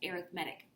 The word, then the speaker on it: arithmetic: spelled like arithmetic but in this context it's pronounced arithmetic so an arithmetic sequence is when you get